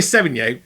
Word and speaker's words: Sevigny: Actress Chloe Sevigny publicly apologized. That's how you say it.